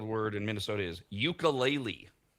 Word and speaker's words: ukulele: Gonna go UKELELE with a little like another acento. Wrong. The way they pronounce it is uka. Ukulele. It's UKULE.